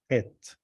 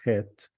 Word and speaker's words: Het: It's het, not het. It's het.